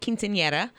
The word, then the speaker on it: Quinceañera: Quinceañera. Quinceañera? Right? Okay. It's a girl's 15th birthday. And so that's what they were doing. They were having a party. And a quinceañera is so awesome because you get totally dressed